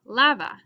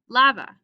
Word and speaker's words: lava: would be lava wash since it ends in an ns or an a this is the second to last syllable and that's going to be stress lava lava so when i add